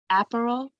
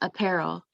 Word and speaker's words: apparel: to point out that the correct accent is on the middle um what are they called it's apparel not april so imagine the accent is on the second uh what's the word second what instead of app the accent is on the air apparel i'm just i'm